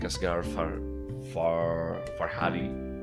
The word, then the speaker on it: Asghar Farhadi: It's from this year, but it's another like Asghar Farhadi, I think that is how it's pronounced, movie.